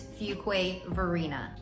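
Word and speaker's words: Fuquay-Varina: So said together, it's Fuquay Varina. Now, when I first moved here, I would try to pronounce it and say Fuquay, Fuquay.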